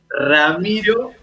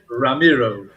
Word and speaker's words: Ramiro: huh say your name where you really say it with that rolling r my with my accent is ramiro you know and you said ramiro typical typical american way to say it right like romano and you really roll that r which is something your tongue goes like flutter so how are you